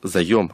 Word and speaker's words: заём: факт мало кто знает что правильно говорить заем они займ хотя у нас везде используется говори займ залезаем вот заем это